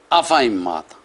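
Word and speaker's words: أَفَإِنْ مَاتَ: Number 15 لفظ ہے، لکھنے میں افائماتا اور پڑھنا ہے اسے افائماتا۔ اور آگے سپارہ نمبر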